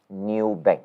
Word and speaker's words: Nubank: So in other words, this NU, right, is pronounced as new. Yeah, I was thinking, is it new or new, Yeah, so I went to YouTube and figured out they pronounce it as new. Okay, so I'm going to pronounce it as Nubank, but it's NU, NU.